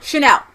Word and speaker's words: Chanel: Chanel.